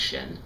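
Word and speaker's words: 神: that's most commonly used and in Chinese it's pronounced Shen and it can be used to describe spirit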